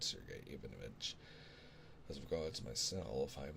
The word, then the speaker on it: Ivanovich: Ivanovich. There we go. Ivanovich.